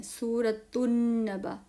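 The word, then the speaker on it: سورة النبأ: यहां पर लाम नहीं पढ़ना है आपने। सूरतु नबा लाम साइलेंट लिखेंगे तो लिखेंगे लेकिन पढ़ेंगे नहीं।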